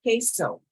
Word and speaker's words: queso: But U in Spanish is a K, like the letter K. So it's the letter Q is pronounced Q, but for cheese, it's queso. Queso. All right, the letter R is R or R.